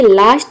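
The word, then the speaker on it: low: को आव प्रोनाउंस करेंगे, लेकिन ये वर्ड के लास्ट में अगर OW आए तो वहाँ पे हम O प्रोनाउंस करेंगे। जैसे कि देखिए यहाँ पे एग्जाम्पल है लो।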